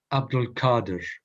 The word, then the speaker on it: Abdul Qadir: He, and they say for short, Abdul Qadir with a K, but is properly spelt with a Q.